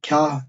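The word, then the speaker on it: kâh: Buradaki kah, bu hıyla, güzel heyli olan kah, zaten buradaki kah, kah diye okunur. Köşk anlamına gelir arkadaşlar.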